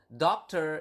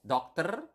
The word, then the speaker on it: dokter: And then doctor is dokter. Remember in Bahasa, we have covered this in previous lesson. You need to pronounce the R. Okay, so dokter. Not doctor or something like that, but dokter. Okay, so with a doctor is dengan seorang dokter.